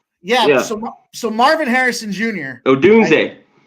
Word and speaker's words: Odunze: Odunze. Odunze.